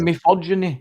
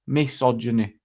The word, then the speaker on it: misogyny: No, you always said mythogeny and it's not. It's miss misogyny.